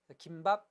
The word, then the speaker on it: 김밥: 즉 예전부터 김밥, 쌈밥은 소리를 첨가시키지 않고 발음한 것이 맞았고 비빔밥, 아침밥은 소리를 첨가시켜 발음한 것입니다.